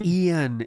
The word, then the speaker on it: Ian: Foster oh my God it's Ian it's I an yeah it's I a an he can't say Ian